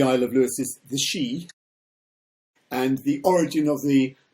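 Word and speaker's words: sìth: So we pronounce them as the Sith, but it's not. It's pronounced the Shee, I wish they would sort of write Gaelic phonetically because then you could pronounce it properly and not make a fool of yourself.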